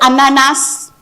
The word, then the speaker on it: ananas: You can look for it every website, like people will say ananas for French. That doesn't exist. The S is silent.